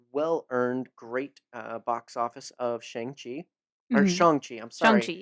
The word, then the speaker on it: Shang-Chi: how the character's name is supposed to be pronounced. Yes, as We've it all been should saying it be. wrong. So it's Shang-Chi.